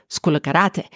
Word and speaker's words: Skoulikariti: When you say School of Karate very fast, it comes out as Skoulikariti, which is the English pronunciation of Skoulikariti.